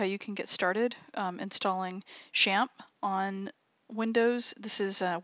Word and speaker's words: XAMPP: xam PP alright and that is actually pronounced shamp some people say xampp some people say zamp whatever champ is apparently